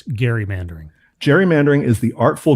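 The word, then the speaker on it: gerrymandering: and it is pronounced Gary mandering the guy's name was Gary not Jerry just for those of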